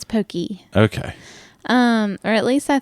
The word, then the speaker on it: poke: Poke bowl. Poke bowl. Okay, so it's not pokey.